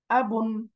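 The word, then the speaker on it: أب: একটা হল আ। হামজা জবর আ। এরপরে বা নুন পেশ বুন। বা পেশ নুন সুকুন বুন। বারান করলে একসাথে কি হয়ে গেল? আবুন। আবুন। আবুন মানে বাবা।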